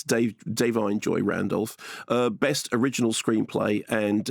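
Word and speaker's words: Da'Vine Joy Randolph: Joy dine Joy Randolph I pronounced her name before I said dine Joy but it's Dave dine Joy Randolf uh best original screenplay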